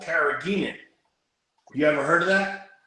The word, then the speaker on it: carrageenan: Carrageenan.